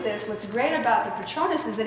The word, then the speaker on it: Patronus: How do you say it? Patronus. Patronus, thank you.